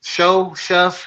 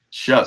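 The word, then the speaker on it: Shough: Shuck. Shuck. I'm calling him show cuz I ain't never heard no K sound come from a G and a H.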